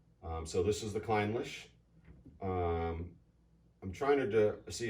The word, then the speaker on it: Clynelish: right which is how i used to pronounce it you know foolishly but i believe it's the kleinlisch claddlish climbless cork failure